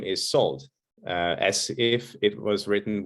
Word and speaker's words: Szold: pronounce last name is salt as if it was written with an s in hungarian s and z together are to be pronounced as s very often i hear